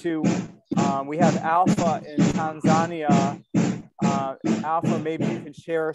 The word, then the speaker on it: Tanzania: Is it pronounced Tanzania, or what's the correct pronunciation? Yes, it's correct pronunciation, Tanzania.